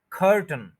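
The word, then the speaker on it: curtain: नजर आ रहा है इनके बीच में जो ए और आई है इसको नहीं बोला जाएगा यानी खर के फौरन बाद टी एन बोला जाएगा टी ए आई एन यानी ए आई को नहीं बोला जाएगा तो ख स्ट्रेस करके टी और एन को इकट्ठा बोल देना है तो ये बनेगा कर्टन कर्टन आपने देखा होगा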